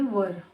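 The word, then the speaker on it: were: वर, इसका pronunciation वेयर नहीं होता है, आप ध्यान से देख लीजिएगा. वर, वर यानी थे, बहुवचन के साथ होता है. बहुत लोग इसे वेयर भी पढ़ते हैं, लेकिन वर होता है, बहुवचन के साथ होता है.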